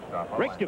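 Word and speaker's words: Reykjavík: Palmer wants me to pronounce the capital. Reykjavik, right? Reykjavik.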